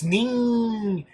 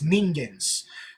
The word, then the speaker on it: Ningens: It's Ningens, as in the Japanese word for mortal, which is Ningens.